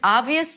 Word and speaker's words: obvious: So to pronounce this word, we start with a and father and then it's a B sound, but a very small one. Ob. Then you move to the V immediately. Obvious V high e a y sound schwa and s.